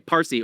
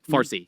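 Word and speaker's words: فارسی: Parsy or as it later was Farsy because the Arabs could not pronounce the P so it became far.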